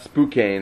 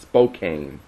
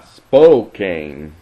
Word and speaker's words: Spokane: The way we pronounce it's not Spokane, it's Spokane. So our pronunciation I'm apologizing for. Spokane? Yeah, Spokane.